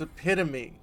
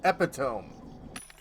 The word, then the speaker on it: epitome: Ah, and the word we were all mispronouncing was epitome. Apparently, none of us had like read that word before, so we were all saying epitome.